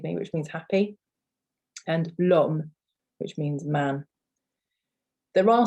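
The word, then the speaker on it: l'homme: definite article with that you would say lom okay so the l is is almost like the first letter the first sound of the word so you don't you don't leave a gap between the le and the arm it's just meaning man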